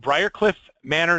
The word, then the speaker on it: Briarcliff Manor: We've invited Mark Seiden from Mark Seiden Real Estate Team in, how do you say that? You say it Briarcliff Manor, New York. That's so correct.